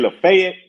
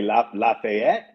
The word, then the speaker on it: Lafayette: If you Lafayette, if you say Lefayet, you're from here. Lefet. You say Lafayette, you're not from here.